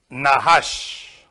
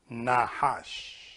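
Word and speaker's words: נחש: comes into our mind the Hebrew word for it nahash this is how you say in Hebrew you write from the right to the left nahash and from that nahash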